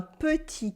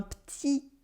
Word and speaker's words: petit: There are some silent letters here, of course, like the final T in petit for small and the final S in dans for in.